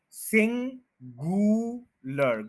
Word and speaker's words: singular: पहले बता दिया था, सिंगुलर, गू नहीं है, ग्यू है, सिंगुलर, स्ट्रेस जो है वो सिंग के ऊपर है, पूरा स्ट्रेस दें, बाकियों